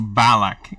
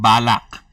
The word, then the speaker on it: balak: It's, in my language, well, it's not pronounced Balak. It's pronounced Balak.